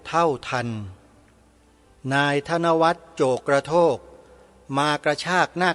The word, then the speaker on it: ธนวัฒน์: ที ละ ตัว นะ ธนวัฒน์ สะกด อย่าง นี้ ธ ธง ว แหวน ไม้ หัน อากาศ ทอ ผู้ เฒ่า น การันต์ อ่าน ว่า ธนวัฒน์ แล้ว ก็ นาม สกุล